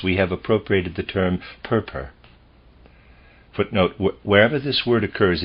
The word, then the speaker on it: Purpur: And such is the fact, for pure red appears, a color to which from its excellence we have appropriated the term purpur.